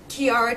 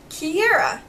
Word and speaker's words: Kiera: did look more like Kiara to me but we decided even though you know there are two ways of pronouncing this name that we really wanted to name her Kiera which was what my